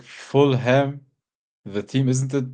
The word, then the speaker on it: Fulham: But isn't like Fulham the team, isn't it pronounced Fulham? Everybody says Fulham. Yeah, Fulham. Yeah, you don't say like West Ham, but Fulham. It's like Fullum. Yeah. Not H-A.